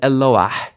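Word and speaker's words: אֱלוֹהַּ: It's actually a roughly breathed hey or mapik hey. You can hear it at the end of the word. So this isn't Eloah, this is Eloah.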